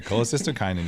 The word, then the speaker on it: cholecystokinin: hormone i like to say honey yeah yeah cholecystokinin you nailed it you even said it right